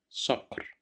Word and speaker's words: صقر: صقر, صقر, صقر, which means a hawk. Here we have fatha. That's why we pronounce it as صا, صقر.